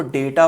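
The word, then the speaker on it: data: कुछ लोग कहते हैं डाटा पढ़ो। और सबसे गड़बड़ बात यह है कि डेटा पढ़ने वाले डाटा को गलत कहते हैं, डाटा पढ़ने वाले डेटा को गलत कहते हैं। इसमें आपको फंसना नहीं है, दोनों ही प्रोनाउंसिएशन है इसके और दोनों ही वैलिड प्रोनाउंसिएशन है।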